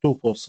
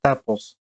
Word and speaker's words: tuple: Next, we have tuples or tuples, depending on how you pronounce it.